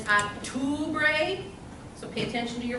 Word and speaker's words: octubre: So I hear a lot of octubre when it's octubre.